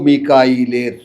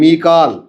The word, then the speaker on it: মিকাল: শব্দের সমস্যা না কোন সমস্যা নাই মিকাল মিকাল তো আমরা বাংলায় মিকাইল বানাইছি আমাদের উচ্চারণের সুবিধার্থে মিকা নাম